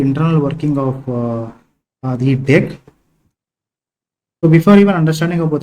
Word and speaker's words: deque: so what is dech it is not DQ it is pronounced as deck it is not DQ it is pronounced as